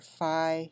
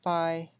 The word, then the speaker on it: phi: is the golden ratio it's got a Greek letter that can be pronounced B and Greek or Phi an American a lot people call it Phi and so if you